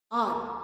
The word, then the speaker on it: hour: आर, HOUR को हम आर pronounce करते हैं। आर क्यों प्रोनाउंस करते हैं? बिकॉज इसमें एच साइलेंट है। हम इसको आर इसलिए प्रोनाउंस करते हैं क्योंकि इसका एच साइलेंट है।